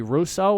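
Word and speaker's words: Rousseau: an eye on apparently gregory russo i believe is how you pronounce his name their first round draft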